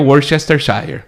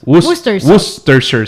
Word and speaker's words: Worcestershire: Se escribe, uno la lee y uno se cree que es Worcestershire. Yes. Pero es Worcestershire sauce. Te comes todo el Worcestershire. Worcestershire. O sea, el Shire es Shire y el Worcester es Worcester.